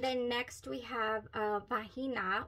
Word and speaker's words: Vahina: next we have uh vahina or V sorry v a h i n a i don't believe you pronounced the h uh then we have